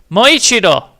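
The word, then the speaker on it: もう一度: But how it's spelled is mo with a long o. So, we have mo with a long Oichido. Moichido.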